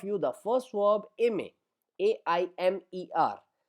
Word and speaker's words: aime: For example, in front of you the first verb aime, AIMER. So we pronounce it is aime.